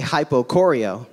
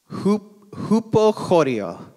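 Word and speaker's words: ὑποχωρέω: Phonetically, you would say hypochoreo, but of course, that's not how you actually pronounce it. It's, let me try this, hupochoreo.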